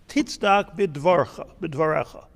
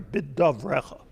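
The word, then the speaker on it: בדברך: Leman titzdak bidvarecha. I'm sorry, bidavrecha. Leman titzdak bidavrecha. Tizke b'shavtecha. I did it so you should be right. Leman titzdak bidavrecha. Glad I'm reading it because I always said it wrong.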